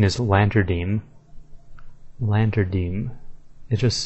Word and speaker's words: Lantadyme: But the correct pronunciation is Lantadyme.